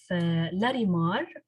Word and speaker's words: Larimar: And she's also founder of Larimar, right?